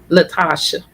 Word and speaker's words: Latasha: uh here we go did i say it right is it latasha yes ma'am latasha i always want to just